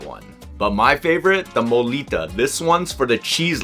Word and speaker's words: mulitas: Is it a molita? Is that how you pronounce it? Yeah, murita.